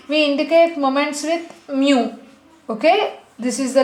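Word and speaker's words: μ: raw moments generally we indic at moments with mu okay this is the letter which we pronounce as Mu I think you already knew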